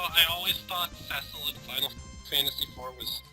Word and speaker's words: Cecil: Or no, I thought Cecil was Cecil, and then someone told me it's pronounced Cecil, so I started thinking of him as Cecil. And then DS came out with voice acting, and it was Cecil again.